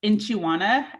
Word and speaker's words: Nchi.wana: of my business is inchiwana and you pronounce that pronounce that inch like a measuring inch in chiwana and that